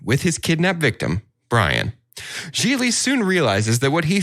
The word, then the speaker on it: Gigli: anonymous a lowly thug geely rhymes with really is assigned to kidnap